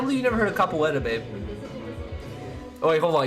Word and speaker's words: capoeira: I bet you it's not pronounced like this. It is. You know how I found out about capoeira? It is pronounced like that.